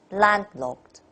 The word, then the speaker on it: landlocked: to read like this so landlocked landlocked emphasis on the stress two syllable land second mountains mountains so it's